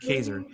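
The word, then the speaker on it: Kaczor: in case you're wondering his last name is pronounced Kaiser it rhymes with razor I've actually had him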